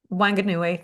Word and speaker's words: Whanganui: Uh Gabriella says, "When thinking about the Wa- Whanganui, I'm going to say it wrong, river Wa- Whanganui. Whanganui, thank you.